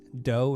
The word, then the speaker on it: Do: me at the chris doe and dough spelled d o it's pronounced or it sounds like cookie dough but it's just about